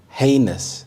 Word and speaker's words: heinous: Heinous, heinous. The stress is on the first syllable, heinous.